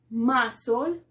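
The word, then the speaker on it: muscle: entonces nos dice que la ce va a ser muda cuando tenemos esa de combinación la combinación es ese como en estos casos ss ss entonces tenemos la primera palabra más sol más sol que significa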